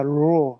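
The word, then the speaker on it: ρ: 근데 P가 아니고 이거는 low입니다. low. 그래서 약간 영어로 할 때 R 발음 나듯이 약간 굴리 low 이렇게 해서 이거는 리얼 발음이 납니다.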